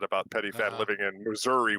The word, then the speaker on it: Missouri: I I was making a joke because of what I said about petty fat living in Missouri, which rhymes with misery.